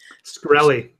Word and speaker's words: Shkreli: Shkreli.